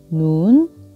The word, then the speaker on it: ن: 다시 이렇게 한 번에 다 써보면 눈, 눈, 눈.